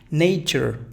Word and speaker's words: nature: Nature, fíjate, nature. Prueba lo siguiente, prueba a pronunciarla como que no hubiese T.